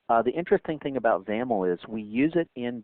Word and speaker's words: XAML: Um, by the way, ZAML XAML is the is the acronym there and that's pronounced with a, you know, rhyming with camel.